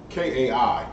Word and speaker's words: Kai: like blood on the teeth you know uh k-a-i that's pronounced kai okay kai they said we should